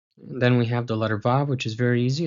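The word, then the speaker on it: וו: So, the letter VAV is a labial dental as we saw with the letter VET, pronounced as /v/, as in 'volleyball', and yes, you're going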